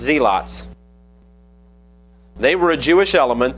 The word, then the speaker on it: zealots: One of them was what we would pronounce this word zealots, but it was pronounced zeots.